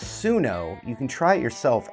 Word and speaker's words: Suno: Pronounced Sunno.